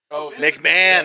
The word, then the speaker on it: McMahon: agent is mahanan M McAn how do you pronounce his name Vince McMahon there we go Vince McMahon yeah that's what